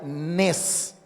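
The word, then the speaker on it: נס: escribe con dos letras la letra nun y la letra same y se pronuncia nes es la letra nun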